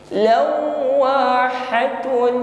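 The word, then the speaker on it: لواحة: Waw bertasydid ya, ditekan membacanya. Saat menekan huruf waw, bibir dihimpun ke depan sesuai dengan makhrajnya syafatain. Lawa ditekan sekali saja, jangan ditahan terlalu lama. Bukan lawa, tidak ya.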